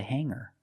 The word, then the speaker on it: hanger: Remember hanger does not have a hard g sound. It's not hanger. It's hanger.